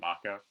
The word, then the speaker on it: Mako: and the power of the Mako also supposed to be pronounced Maca but you know again you